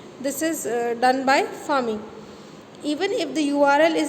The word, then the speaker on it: pharming: फार्मिंग pronounced as फार्मिंग. जैसे आप FARMING वाला फार्मिंग प्रोनाउंस करते हैं, वैसे PHARMING वाला फार्मिंग को प्रोनाउंस करेंगे.